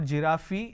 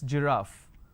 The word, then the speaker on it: giraffe: giraffe starting with g it's not jirafi it's giraffe and we have a